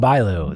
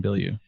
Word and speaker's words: Bilyeu: Which is actually how you pronounce it, because it's a French name, and I'm from Canada, and French is our second language.